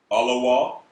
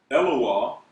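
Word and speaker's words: אֱלוֹהַּ: Okay, a variant of this word is, this is pronounced Alawa. Some of you may see it spelled and pronounced as Eloah, okay, which also means God, okay?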